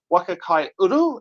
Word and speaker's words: Waka Kai Uru: But we're here today with the uh Waka Kai Uru.